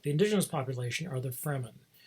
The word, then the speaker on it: Fremen: The indigenous population are the Fremen. Sometimes called the Freemen, it depends on people's pronunciation, but it's spelled Fremen.